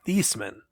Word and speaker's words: Theismann: for heisman fun fact his last name's thiesman he changed the way they say his name just sounds rhyme for heisman heisman oh man that